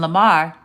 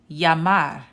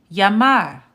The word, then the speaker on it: llamar: So instead of saying Ella, Amarillo, and Lamar, it's actually pronounced ella, amarillo, llamar. Okay? Anytime you see two L's, it's pronounced like the y sound, like a Y. So it's pronounced ella, amarillo, llamar.